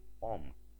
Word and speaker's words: Om: Realmente se escribe Aum y se pronuncia Om.